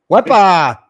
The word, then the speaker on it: WEPA: WEPA? Yeah. Did I say it right this time? WEPA.